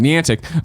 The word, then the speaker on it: Niantic: The Niantic, I'm saying it right, Niantic Beyond Reality, you got me good.